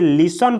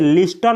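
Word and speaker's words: listen: verb है दोस्तों लिसन इसे लिसन पढ़ा जाता है दोस्तों इसे लिस्टन नहीं बोला जाता है लिसन लिसन का हिंदी मीनिंग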